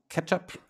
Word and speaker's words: k3sup: we'll need that for catch up to run so it's pronounced ketchup at least that's what they say on the github page and it's just lightweight